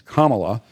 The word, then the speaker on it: Kamala: It's Kamala, and the issue is, why do people want her?